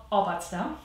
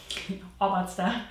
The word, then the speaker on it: Obatzda: So in German, it's called Obatzda. Obatzda. It's Bavarian, and Batz basically means mud or something that's kind of like caked together, and this is essentially the recipe.